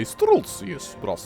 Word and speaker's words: Streltsy: Now we have the Streltsy, which I do believe I pronounced correctly because, you know, it's easy to pronounce Russian things. You just say Streltsy.